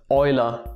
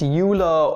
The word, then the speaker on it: Euler: leonhard euler and well you just pronounce it like oil with a little r in behind so euler he's not pronounced euler or for sake don't don't call him wheeler what the [ __